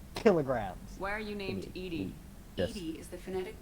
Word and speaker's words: EDI: kilograms not pounds kilograms why are you named edie 80 is the phonetic pronunciation of edi that is an acronym for